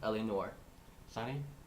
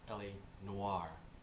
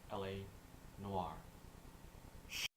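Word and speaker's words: L.A. Noire: an SNF video where today we'll be reviewing ell no sunny it's it is actually pronounced LA Noir really yes it is pronounced LA Noir I actually have a lot to say about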